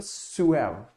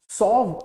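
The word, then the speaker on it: suave: जो अगला वर्ड है इसका मतलब है सुएव, राइट। इसको सॉव प्रोनाउंस मत करना आप लोग, इसको क्या बोलते हैं? सुएव।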